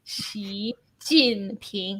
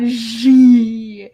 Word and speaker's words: Xi Jinping: So, for example, like the way people pronounce Xi Jinping is always wrong. It's Xi Jinping, not Xi.